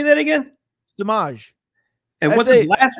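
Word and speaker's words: Samaje: Samaj.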